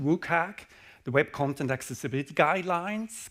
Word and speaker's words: WCAG: It's pronounced WCAG, the Web Content Accessibility Guidelines.